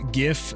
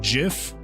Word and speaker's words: GIF: The reason why I say GIF is because it stands for the uh graphic interchange format. Yeah. And so unless you pronounce it graphics, then it then it's GIF.